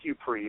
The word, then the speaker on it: Ypres: Is it Woods of Ypres? It's Ypres. Apparently it's French. I didn't know how to pronounce it until a French guy was like, "It's Ypres, man."